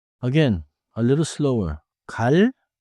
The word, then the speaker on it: 갈: 갈 칼 깔 I think I hear it.